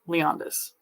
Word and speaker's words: Leonidas: His middle name is spelled like Leonidas, like the Roman general thing. So yeah, that's interesting, but it's always pronounced Leondis, and it's from his great grandfather, if I remember correctly.